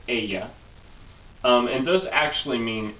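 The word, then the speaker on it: ella: a which is she it's spelled with a double L and you pronounce it Aya um and those actually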